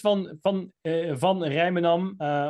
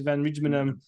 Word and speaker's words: van Rijmenam: It's van Rijmenam, or in English van Rijmenam.